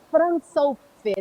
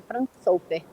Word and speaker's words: Fransofer: Fransofer. É Francisco. Ele pegou as primeiras sílabas do nome dele, Fransofer.